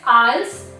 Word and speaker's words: IELTS: Now let's talk about IELTS, pronounced as IELTS, ST is silent, and full form is International English Language Testing System.